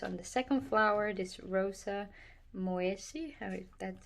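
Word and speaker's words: Rosa moyesii: So today's video I'm going to try and focus on the second flower, this Rosa Moesi, that's how you pronounce it.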